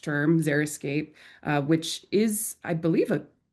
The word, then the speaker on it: xeriscape: Then we have xeriscape, the actually correctly pronounced term, xeriscape, which is, I believe, a trademarked term just